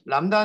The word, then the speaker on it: lambda: 이렇게 하도록 하겠습니다 4 람다 는 이렇게 써요 amp eda 비가 발음이 되지도 않구요 그래서 람타 라고 할 때 중간에 비가 있어요 오타 아닙니다 4 패키지를 만드셨으면 요